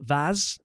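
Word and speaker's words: OpenVAS: There are other tools like open vase. Vaz is spelled vas to name but just a few.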